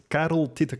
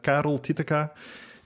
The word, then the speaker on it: Karel Titeca: the rolling R so Carol but Carol Tia uh is the right pronunciation um Bel um Carol